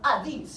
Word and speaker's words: Hades: Now, prior to Miss Moya's chapter here, he goes down to Hades, or Hades, how you would actually say it.